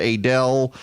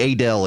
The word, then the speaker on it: Adel: a that's another one the a del area speaking of pronunciations here as opposed to I heard that's had somebody refer to it to me as Adel heard you were on the radio in Adel is like aiming a del a del Outfitters I